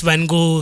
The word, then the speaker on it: Van Gogh: Because Van Gogh rhymes with mango.